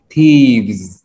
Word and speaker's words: thieves: Yeah, but it's that T-H, remember? Th. You got to stick your tongue out a little bit. Just like think. Thick. Three. Thank you. Th. Thieves. Thieves. Thieves.